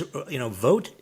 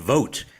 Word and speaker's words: Vought: But what's happening now, this is, Vogt at OMB and Let's Trump. Be clear. That's a person, Vought. It is Keep pronounced going.